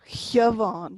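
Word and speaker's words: Shiobhán: Siobhan becomes a Siobhan. You don't pronounce the S.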